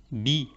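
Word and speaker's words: بِ: Et cette harakat, elle s'appelle Kasra. et elle donne le son I. Donc maintenant, notre lettre ba, elle va se prononcer bi, avec à droite, donc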